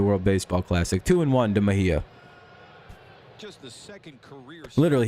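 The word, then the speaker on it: Mejía: Mejia is how you say that. Mejia. Sorry about that. I've been butchering that this whole time. It's Mejia.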